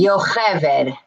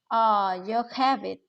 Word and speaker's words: Yocheved: Yocheved. Yocheved. Okay. Very good. Yeah, Americans can't pronounce it at all, as a rule. So, I mean, it's a Hebrew name. It's a biblical name.